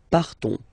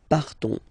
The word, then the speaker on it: partons: will be different, so classic ending ons, you don't pronounce the s, you just have this on, on sound nasal, nous partons, nous partons, Okay, then for vous,